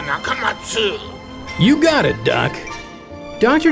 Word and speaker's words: Nakamatsu: You may notice his name is spelled Nakamatsu. He dropped the letter U because he says an 8-letter name is easier to remember, but he still wants you to pronounce it Dr. Nakamatsu.